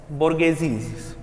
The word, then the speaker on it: bourgeoisie: the French society was bourgeoisie. It is a very difficult word to pronounce for me. It is BOUR GEOISIE.